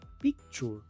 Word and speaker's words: picture: Muchos pronuncian esta palabra picture, pero la I se pronuncia E. La T se pronuncia como SH. La U es muda y la E al final es muda.